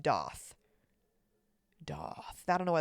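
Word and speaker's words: daith: okay I I say da I know it's it's a the piercing is spelled D AI t h okay apparently it's pronounced doth doth I don't know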